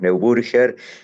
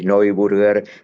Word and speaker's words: Neuburger: Estamos en Argentina, lo pronunciamos neburger. si queremos eh ir al origen alemán del del apellido que en Alemania es muy común, eh Snow Burger, pero sigamos adelante.